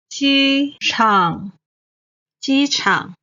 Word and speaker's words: 机场: 机 is the first tone. 场 is the third tone. 机场机场 Then, 高手 expert and master.